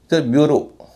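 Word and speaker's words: bureau: ब्यूटी ब्यूरो। ब्यूरो में इ ए यू का उच्चारण हो रहा है ओ।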